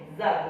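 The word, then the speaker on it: ذ: yang perlu diperhatikan ya terutama pengucapan huruf Zal ya ini Zal bukan ta beda itu ya huruf ta dengan huruf Zal ya oke terus e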